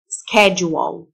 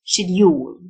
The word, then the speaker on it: schedule: جدول schedule، اليو تنطق جه، جه متعطشة كده schedule. وده النطق الأمريكان، النطق البريتش schedule، schedule.